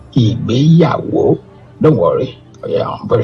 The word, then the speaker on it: Igbeyawo: It is pronounced IGBEYAWO.